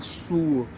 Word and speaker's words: suo: Porque aí você, ao responder utilizando a pronúncia correta, opa, a pessoa naturalmente, intuitivamente, vai saber, ah, não é sou que eu falo, eu tenho que falar suo.